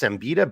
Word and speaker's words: Siembida: And then his last name is pronounced Siembida, but it's spelled Siemba.